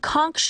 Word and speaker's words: conch: WITH LITTLE FOOD AND WATE THEY REPORTEDLY SURVIVED OFF RATS AND CONCH (pronounced 'CONK') SHELLS.